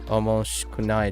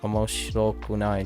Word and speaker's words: 面白くない: I thought it was omoshikunai desu, but it's omoshirokunai desu.